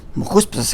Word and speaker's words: Mechuspos: It's pronounced Mechuspos, but the vav in the Torah is not written. So vav is 6, 254 minus 6, you have 248. Without the vav? Without the vav. Because vav is 6, and 254 is 248 plus 6. So if we take the vav out, not the way it's pronounced, because it's pronounced with the vav as a vowel, but if you take